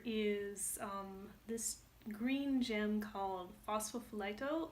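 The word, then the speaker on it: Phosphophyllite: this green gem column phospho flight o or fuss I guess in English you don't say the L what's possible for light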